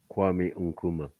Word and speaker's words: Kwame Nkrumah: And basically, how do you pronounce his name? Kwame Nkrumah.